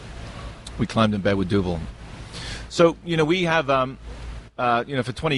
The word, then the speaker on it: Duvel: Now I'm going to mispronounce the name. Is it Duvel or Duvet? Duvel.